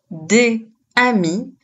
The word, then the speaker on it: des amis: On ne dit pas des amis, mais l'on utilise la liaison, donc pour bien prononcer, on va dire des amis.